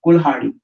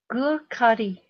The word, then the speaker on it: कुल्हाड़ी: Gurkhadi. No, kul. Gurkhadi. Okay. Try to pronounce it as cool, cool, Kur. and then ha, and then d. Kurhadi. Very good.